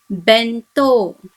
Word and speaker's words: bento: The first one is bento. Now here we have to after N. So it must be pronounced as N. So the word is pronounced as bento, which is lunch box.